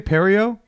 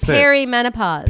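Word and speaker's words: perimenopause: Perio. No, honey. You don't even know how to say it. What is it? Perry menopause.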